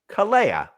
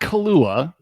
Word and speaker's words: Kalea: Kalea. Kalea. Not Kahlua. Kalea. Kalea.